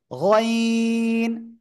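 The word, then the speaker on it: غين: গইন। অনেকে বলে গাইন, গাইন বললে গাইন হবে না, ঠিক আছে? গইন, ঠিক আছে।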